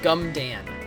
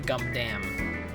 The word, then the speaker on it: Gundam: That's also wrong. Gumdan. It's actually Gundam.